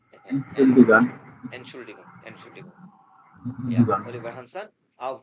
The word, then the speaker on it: Entschuldigung: উচ্চারণ করেন এটা, এন শুল উচ্চারণ করেন ছোটা, Entschuldigung. Entschuldigung.